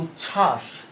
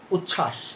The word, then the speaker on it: উচ্ছ্বাস: এই যে উচ্ছ্বাস, তাহলে এখানে উচ্ছ্বাস, এখানে ব কি উচ্চারণ হচ্ছে? না, উচ্চারণ হচ্ছে না।